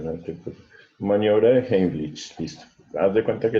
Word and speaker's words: Heimlich: Profe, ¿cómo se pronuncia esto? Heimlich.